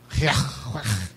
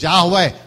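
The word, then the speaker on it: Yahweh: You know, it should be pronounced with a gutteral sound. Yahwe.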